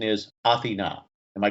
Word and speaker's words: Athena: my wife is greek and uh most people pronounce it athena but the greek pronunciation is athena am i correct i hope you are correct